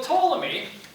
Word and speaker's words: Ptolemy: understanding what's going up so Ptolemy with the silent P live from 85 to